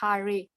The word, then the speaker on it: Hare: rama harihari the words hare pronounced hari krishna pronounced krishna and